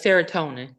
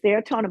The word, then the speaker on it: serotonin: n how do you pronounce that Joanne seron spell it again s e r o n t i n yeah it's serotonin what I thought it was serona but I wanted to make sure because it